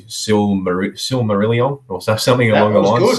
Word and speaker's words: Silmarillion: talk about, but I think I'll try and pronounce it correctly, Silmarillion or something along the lines. Silmarillion.